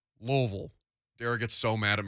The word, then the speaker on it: Louisville: No, Ville is VUHL around here. Louisville.